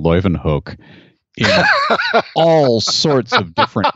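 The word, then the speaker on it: Leeuwenhoek: live in hook let's see she said i pronounced that properly hookstra and she said you would say leuven hook is that right dixon it is good now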